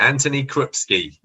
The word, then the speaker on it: Antoni Krupski: i'm good well rested yeah excellent am i pronouncing your name right anthony krupski yeah that's it okay is it is it